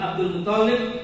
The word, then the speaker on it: Abdul Muttalib: Saya lagi Abdul Muthalib, bacanya jangan dulu Pak nggih. Toknya dua.